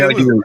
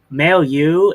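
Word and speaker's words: Mailloux: If am I saying that it's May Ma maleu. Male U. Like male and then you.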